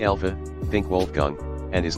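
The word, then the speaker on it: Wolfgang: Americans deem this name cool while here it's pronounced very differently to the English wol German V alha think wolgang and is like the most typical math teacher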